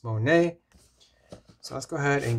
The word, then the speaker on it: SMONET: Monet Smart Lock or if you want to pronounce it it's Monet so let's go ahead